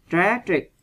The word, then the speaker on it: tragic: Tragic, bi thương ha, vần 1.